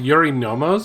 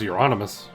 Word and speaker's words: Eurynomos: It's pronounced Eurynomos? I thought it was Euronymous.